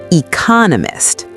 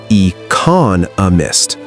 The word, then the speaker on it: economist: Economist. Listen to me carefully. E coniss. There are four syllables, but notice where the beat is. It's on the second syllable. Economist.